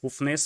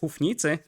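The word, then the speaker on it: Houfnice: and uh a unit that everybody will probably pronounce as hoofness or hoof nice but according to google translate which is probably the only reliable source of uh translation data kappa it's pronounced as huff nite and it means hovitzer in czech so we're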